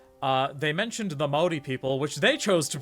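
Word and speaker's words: Māori: It's Maori. It's 2 syllables.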